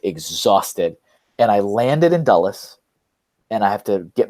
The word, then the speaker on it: Dulles: Are you saying Dulles? Because I know you pronounce words differently than I do. Do you mean Dallas? No, not Dallas. Okay, Dulles.